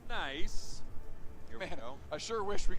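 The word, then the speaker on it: NAIC: fans for this event at niic pronounced nice pronounced nice man I sure wish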